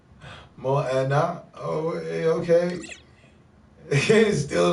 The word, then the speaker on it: Moana: There's a movie named Mona. You bullshitting. It's a Disney movie. And pronounced Moana.